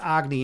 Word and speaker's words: Agni: It's pronounced agny in in Hindu mythology. And uh Agny was the god of fire.